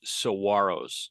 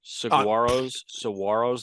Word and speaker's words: Saguaros: And the G is silent. The Surprise Saguaros. Saguaros, the Cactus.